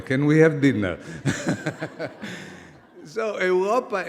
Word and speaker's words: Europa: Everybody understands Europa. We pronounce Europa. Someone else will pronounce Europa, but it's Europa.